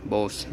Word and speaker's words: Bose: Tiếp theo ở bên này là bộ Bose, Bo hay là Bo xe gì đấy. Em thì em hay đọc là Bose, Bose. Nó Bo nhá. Em hay đọc nó Bo.